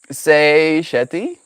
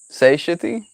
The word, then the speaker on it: satiety: After Googling, I see there are two ways to pronounce satiety. Say shetty? Say shitty? Satiety. Yeah, that's mine. I say it's satiety, the second one. I think due to the French influence on Canadian English, but most of the world says satiety.